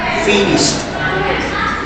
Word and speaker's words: finished: the same finish it is with this sound finished finished yes we literally is the this is the phonetic finished finished can you pronounce finished finished yes remember and another important